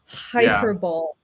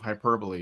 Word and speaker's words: hyperbole: Hyperbolt. He used to say hyperbol instead of hyperbole.